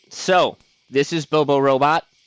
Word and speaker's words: Bobo Robot: All right, so this is Bobo Robot, or as I like to call it, Bobo Robo. You know, T is silent. keep the whole rhyming scheme going.